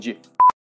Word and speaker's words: GIF: I'm sorry, are you trying to tell me that it's pronounced graphics? Am I gonna go home later today and play with my golden retriever? Maybe for your birthday, I'll GIF you a gift.